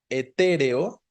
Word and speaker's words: etéreo: Y luego, en el inciso C, etéreo, también tenemos que es una palabra esdrújula, etéreo, ¿no?